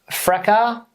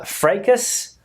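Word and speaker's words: fracas: cck and the next one here is uh fracka fracka okay fracka in the USA they pronounce the word uh frus frus but in uh British English or where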